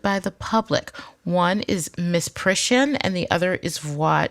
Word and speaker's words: misprision: You guys, we say misprison in Alabama. What are you saying, misprision? There's an I in there.